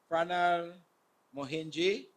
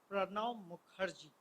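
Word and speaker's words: Pranab Mukherjee: of India, I will endeavor to try to pronounce this name, Pranal Mohinji, not that. Come, please, Mishra, Dr. Mishra, come pronounce his name before it go out wrong to the community. It's Pranav Mukherjee.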